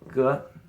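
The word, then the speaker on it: 哥: See, both of these have a phonetic component that will help you remember how to pronounce these characters. And there's so many more. Let's look at ge.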